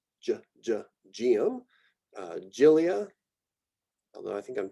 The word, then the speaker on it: Geum: GE and GI, these get more of what would be like a J sound. So geum, geum, gilia, although I think